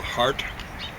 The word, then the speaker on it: Hart: Michael Hart. So that's hard with a T on the end. Tells you how to pronounce it, I guess.